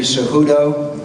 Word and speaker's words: Cejudo: Henry Cejudo, I believe, is a proper pronunciation.